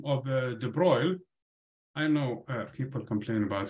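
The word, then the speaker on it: de Broglie: grad student and so the way we say his name is actually the broil but that's fine you can say the broccoli if you want to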